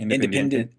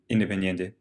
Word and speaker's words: Independiente: Independiente. Yeah, to PSV to Liverpool, Yeah. Liverpool to Barcelona, Barcelona to Atletico, Atletico back down to. Yeah. Say it again. Independiente.